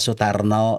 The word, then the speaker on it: Sutarno: Tapi bedanya dengan di Jawa itu ditulisnya A, bacanya O. Kalau di Sunda itu ditulisnya O, bacanya O.